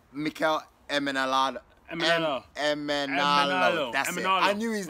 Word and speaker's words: Emenalo: How do you pronounce his last name? Emenalo.